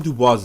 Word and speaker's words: Dubois: His hatred of self was a lot more subtle than Ruckus, but it's small things like the fact that Dubois is given a French pronunciation, or his obsession with his Eurocentric heritage.